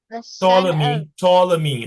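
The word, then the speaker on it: Ptolemy: chose po to me to me the p is silent uh the son of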